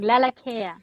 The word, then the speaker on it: Lalakea: live radio it's all good thanks for asking laa laa very nice okay so Aran is here with